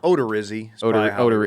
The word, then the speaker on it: Odorizzi: Do you pronounce it correctly? Odorizzi? I was joking. It's Odorizzi.